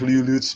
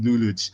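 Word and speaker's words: Lelouch: All hell, Patrick Luluch v Britannia.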